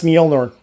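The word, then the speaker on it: Mjölnir: Apparently, the hammer's pronunciation is M G O L L N I R. That's Mjolnor.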